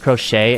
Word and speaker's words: crochet: see you next time it's pronounced crochet and you said cro oh my gosh I